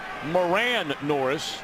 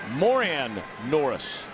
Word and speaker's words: Moran Norris: For those of you curious, he used to have his name pronounced Moran Norris, and this year is asked it's Moran Norris.